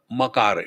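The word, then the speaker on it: मकार: it pronounced properly therefore akara ukara makara it is not makkar so dangerous foreign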